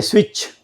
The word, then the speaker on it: switch: will be made silent when you say switch in switch s w i e t c h the t is made silent is not and uh picture in t made silent so there are some